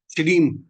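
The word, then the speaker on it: श्रीं: अब सबसे पहले आप ये समझिए कि जो एक बीज मंत्र है श्रीम, SHRIM, श्रीम, इसको जो उच्चारण किया जाता है वो श्रीम किया जाता है, SHREEM, श्रीम।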